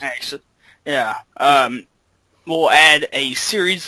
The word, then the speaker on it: AKSYS: It's AKSYS. You're right. Axis. Oh, That's how okay. it's pronounced. Axis.